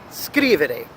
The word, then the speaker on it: scrivere: As opposed to now verbs ending in ere, we have scrivere. The emphasis falls at the beginning of the word, all right, the first syllable of the three.